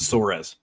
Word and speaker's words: Soares: Is that Soares or Soares et al., Matt? I pronounce it Soares.